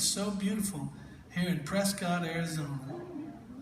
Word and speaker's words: Prescott: so beautiful here in Prescott Arizona these Cowboys said it's Prescot I looked down I said well why didn't you spell it like biscuit then beat that oh